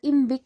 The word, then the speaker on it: IMViC: तो collectively 4 tests मिलके एक ग्रुप बनाते हैं जिनको हम लोग इम्विक टेस्ट बोलते हैं।